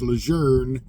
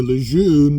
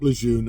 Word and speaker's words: Lejeune: from French so it was pronounced lour uh about 6 to n months later the family made a big issue about it and wanted to change back to Lun because that's the way it's pronounced so it is back to Camp leun I've always said Camp